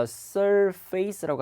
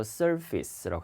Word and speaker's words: surface: 그래서 he's applying paint to the 발음이 표면을 갖다가 surface라고 하지 않고 surface라고 합니다. 발음 주의를 하십시오.